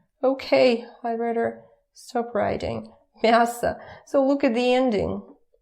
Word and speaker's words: мясо: Мясо. Again, pay attention to my pronunciation. Remember that it's about vowel reduction. So when it's not stressed, it turns to like that. Мясо, мясо. It's not мясо.